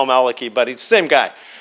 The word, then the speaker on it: al-Awlaki: But in Yemen, his family and so on pronounce it Awlaki, Anwar al-Awlaki. And so I just got in the habit, so I call him Awlaki, but he's the same guy.